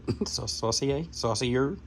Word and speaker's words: Saucier: this, and Zach Saucier, hopefully I pronounced your last name right. That's how the French would do it. Saucier.